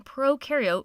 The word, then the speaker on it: prokaryote: like to remember that Pro in prokaryote rhymes with no and you and eukaryote